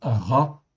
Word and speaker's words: רע: Donc rche ain le mot se prononce ra en fait ici en hébreu avec la voyelle ici le patard que nous avons sous le rche.